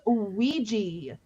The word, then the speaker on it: Ouija: It's pronounced Ouija.